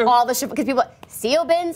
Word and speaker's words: Siobhan: So if nothing else, we've helped all the Siobhans, because people, Siobhan, Saboin, you can see how many times they tried to get us to change that name.